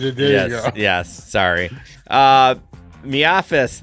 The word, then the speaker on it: MIAFS: Miafis, that's the name we made it. We made it called it's Miafis, but that's just the gig economy pronunciation.